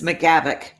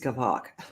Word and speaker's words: McGavock: Ooh, and it's Mrs. McGavock, not Mrs. Gavok.